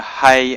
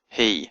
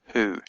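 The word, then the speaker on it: הִוא: Genesis to Deuteronomy, and it has a little cherek at the bottom, so you know to pronounce it he and not who.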